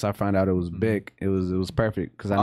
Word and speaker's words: Bic: I was pronouncing Bink. I didn't know how to pronounce it. So it's Bic.